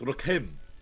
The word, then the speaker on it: Rokem: Ah, Yes, it's actually not pronounced like that, but We knew it's him very well. close. Yes, Racombe. It's Rokem. It's Rakim, sorry. Rokem. Rocky Oh, was- Rock'em Sock'em. Yes, it's Rocky. Rokem. Yes. Rokem.